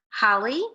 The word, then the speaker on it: holly: can read these words why is this one pronounced holly with a short vowel and this one pronounced holy with a long vowel the doubling of that